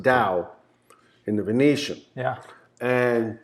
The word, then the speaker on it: TAO: hard rock yeah and dao which most people pronounce tao whoops yeah tao it's it's it's pronounced dao in the venetian yeah and you know i'm